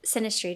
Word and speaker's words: synastry: Yeah, we would love to have you back and read Connie's and then do our synastry together. Yes. Is that what you said? Synastry? Yes. Mm-hmm. Yeah. You said it right?